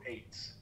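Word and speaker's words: עץ: Eitz, right?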